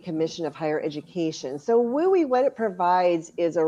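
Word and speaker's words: WUE: It's pronounced WUI, so it's kind of fun to say.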